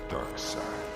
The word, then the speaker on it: Darkseid: How is his name pronounced in the show? You may call me Darkseid.